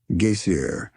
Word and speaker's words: geyser: high above the waters, the geyser, a word the Icelanders pronounce gaseier, and which signifies fury, rose majestically from its summit.